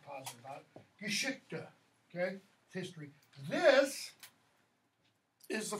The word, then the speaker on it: Geschichte: Geschichte, okay? And notice what happens when you have a third syllable, like with Geschichte. That third syllable often is unstressed completely.